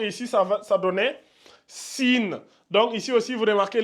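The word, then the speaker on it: سين: rajoute un H comme ça là à la prononciation ça donne Chine Chine donc ça c'est sine et ça c'est Chine voyez-vous les trois points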